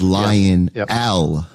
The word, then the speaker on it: Lionel: My name is Lion Al, you know. Yes. Oh, gotcha. And my name is spelled L I O N E L.